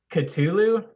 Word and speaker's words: Cthulhu: how it's pronounced uh Cthulhu right Michael um it's freezing kept a blue it's supposed to be pronounced with an alien tongue so it's pronounced Coutu